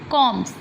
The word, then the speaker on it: combs: Combs. Here B is silent.